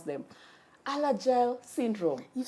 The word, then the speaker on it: Alagille: It's even hard to pronounce them. Alagille syndrome.